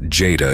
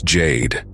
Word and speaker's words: Jade: "Her name's not Jada, it's Jade," Diego said, annoyed that he said her name wrong.